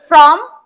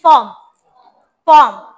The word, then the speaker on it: form: আচ্ছা, please fill out this admission form, not from, it's form, রটাকে একটু উচ্চ করে বলো, হ্যাঁ, form, ঠিক আছে?